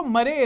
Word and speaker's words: Marais: नहीं जीते रहे वो, मरे नहीं। अरे MARAIS नाम है उनका। अच्छा मरायस नहीं है? नहीं वो प्रोनाउंस इस तरीके से होता है।